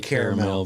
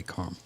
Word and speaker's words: caramel: that caramel that sounds I think it's supposed to be caramel but I say caramel an oyster caramel yeah